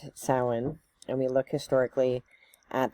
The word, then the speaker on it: Samhuinn: pronouncing it wrong, but that is the Scottish Gaelic pronunciation.